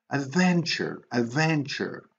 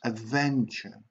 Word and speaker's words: adventure: Adventure. Okay, you see how the stress is on the syllable, and then the third syllable is unstressed. Adventure.